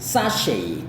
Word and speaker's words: sachet: Kalau S dengan H, kayak gitu ya. Jadi sachet kayak gitu.